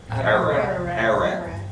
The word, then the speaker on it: Ararat: Ararat. Ararat. A-R-A-R, Ararat. Just say it like it looks, Ararat.